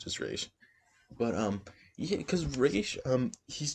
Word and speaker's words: Ra's: I pronounce it as Raish. I don't know how you guys pronounce it, but Raish, I really like him.